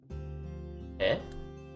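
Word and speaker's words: へ: me to explain that the particle for movement this is pronounced as he this is read as he but pronounced as eh when um i think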